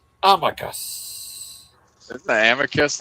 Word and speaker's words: Amicus: Amicus.